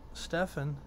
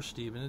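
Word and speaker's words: Stephen: know I was there when Stefan died or stepen it's all it's all pronunciation for that I believe I see the P instead of a v i say Stefan but but you know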